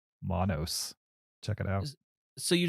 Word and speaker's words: Monos: My number 9, Monos.